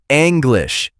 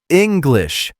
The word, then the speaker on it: English: It starts with an I sound like ink. It is not English. It is English. Try it. English.